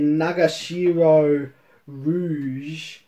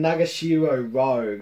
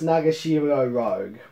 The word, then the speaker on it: Nagashiro Rouge: with it's written by nagashiro rouge just kidding nagashiro rogue i just mispronounced her last name as a epic funny gag it's nagashiro rogue an emacs eve is